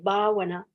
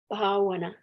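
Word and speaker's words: bhāvanā: Like that's got BH long A, VANA, bhavana, bhavana. Oh, well, there you go.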